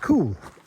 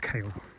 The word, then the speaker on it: Caol: It's pronounced cool, as in the weather, he said. So cool instead of kale.